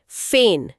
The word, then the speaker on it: feign: यह है फेन। एफ ई आई जी एन फेन। फेन। इसका उच्चारण फेन जैसा होता है।